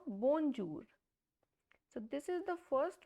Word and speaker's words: bonjour: So the pronunciation of this word is bonjour, not bonjour.